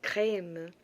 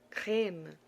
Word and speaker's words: crème: Entonces tenemos ejemplos con esta E que es crème, poème, poème, crème. Hay que abrir la boca para que la pronunciación sea diferente y se diferencie cuando se utilice el acento grave y el acento agudo.